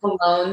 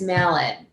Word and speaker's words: Mallon: I want to say Malone so bad, but it's Mallon. Yeah, it looks like Mallon, like it's spelled like Mallon.